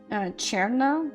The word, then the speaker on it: Cherna: Cherna, the C is a sh sound, which is kind of difficult to pronounce, but it can round to ch.